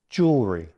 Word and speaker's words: jewelry: Remember, in everyday American English, it's typically 2 syllables, jewelry.